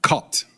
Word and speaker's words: Cartes: Pronounced caught, right? Yeah. Did I get that right? Beautiful. Caught.